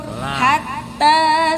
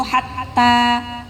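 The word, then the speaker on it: حتى: Ha di situ hatta. Langsung masuk ke ta. Hatta, bukan hatta. Nah, ya, karena huruf tanya ada tasydid. Perhatikan ya, ada tanda tasydid.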